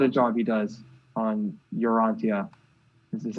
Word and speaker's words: Urantia: Those are some of my favorite vocal parts, but holy crap, what a job he does on Urantia.